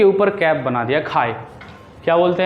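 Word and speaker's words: χ: इसको ऐसे बोलते हैं, लेकिन जो प्रोनाउंसिएशन होता है वो हम ऐसे करते हैं, खाए। क्या बोलते हैं, खाए। इसे चाय नहीं बोलना, या फिर चाय छी नहीं बोलना है, क्या ए के ऊपर कैप बना दिया, खाए।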